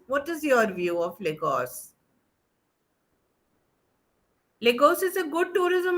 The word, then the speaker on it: Lagos: pronounce this can anyone has visited yeah we pronounce this place as Lagos okay so for Lagos if you have to